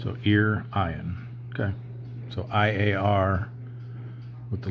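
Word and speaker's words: Iârion: So Irian. Yeah, like Ryan, but with ear in front of it. So Irian.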